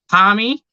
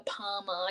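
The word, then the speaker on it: parmi: bring this up to, it's spelt with an I in the name. How can you pronounce it with an A or an EY or whatever other stupid way you want to put it?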